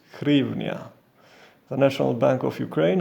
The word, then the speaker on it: hryvnia: language counterpart pronounced grievna however the standard english name for the currency is grievnia the national bank of ukraine has recommended that a distinction be made between hrivnia and grievna in both